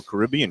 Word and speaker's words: Caribbean: the local Caribbean Community is it Caribbean or Caribbean how do you pronounce it Tony both ways are okay I would say Caribbean Caribbean very diplomatic this cigaro yeah I think both ways are accepted I go Caribbean okay